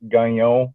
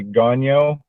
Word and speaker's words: Gagnon: So the last name is Gagnon, and it's pronounced Gagnon if you're French. Gagnon. But for everyone else, you can say Gagnon.